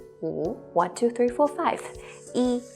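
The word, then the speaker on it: 一: looks like this eat what we need to pay attention about this character e is its pronunciations to be more exact it's tones when e is used as a numeral in sequence such as when you're counting it is the first first flat tone one two three four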